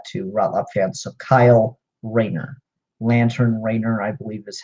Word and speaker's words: Rayner: rolla fan so Kyle Raina Lantern writer i believe is how he's officially referred to in here uh ray like ray of light nur ringer is a